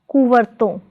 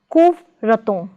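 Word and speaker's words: कुवर्तन: Prefix ko plus stem varton is pronounced as kuvarton, not as kuvraton, but as kuvarton.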